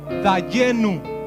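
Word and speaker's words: דיינו: Y esa expresión yo espero que la pongan ahí en sus pantallas, la van a conocer y se dice en hebreo dayenu.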